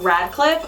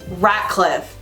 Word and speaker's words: Ratcliffe: was looking up villains, I don't like Radcliffe, but his name is spelled Ratcliffe, like with a T, and I always thought it was with a D. It's a rat. He's a rat. Ratcliffe.